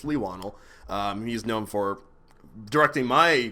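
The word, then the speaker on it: Leigh Whannell: I realized I had been pronouncing it wrong for years. It's not Leigh Whannel, it's Leigh Whannel.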